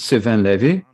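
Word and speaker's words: Sylvain Lévi: His name is Sylvain Levy.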